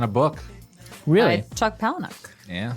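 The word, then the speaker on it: Palahniuk: something based on a book really by Chuck palanuk yeah palanuk that's how you pronounce that I always wonder it's a really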